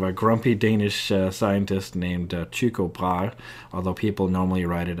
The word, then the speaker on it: Tycho Brahe: So he was assistant to a Danish guy named, I mean, a lot of people call him Tycho Brahe. But if you're a Dane, they pronounce this Tycho Brahe.